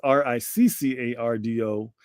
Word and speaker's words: Riccardo: So it is Riccardo. And that's Rick, not Rice, not Rico, not Ricky.